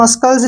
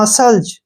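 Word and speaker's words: muscles: एस ठीक है ना इसको हम मस्कल नहीं पढ़ेंगे एस के बाद क्या आया है सी सी हमने छोड़ देना है इसको पढ़ेंगे हम मसल्स या फिर मसल्स बोलते हैं ठीक है ना मसल्स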